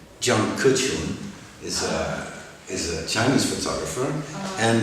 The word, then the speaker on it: Jiang Kechun: and then there is, let me do the pronunciation right, Jiang Kechun is a Chinese photographer, and then there is Nadav Kander, is an Israeli photographer.